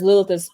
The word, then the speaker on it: Lilith: Well, yeah, it's pronounced Lilith.